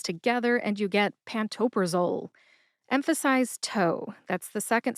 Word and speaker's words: pantoprazole: It is pantoprazole. Pantopraole has four syllables. That's pan like pancake, toe, like the toes on your feet, pra like the middle of the name Oprah, and zol, which rhymes